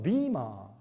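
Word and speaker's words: Weimar: 원래 여러분 위마 리퍼블릭, 독일 말로 위마 리퍼블릭 그렇게 이제 발음을 하죠.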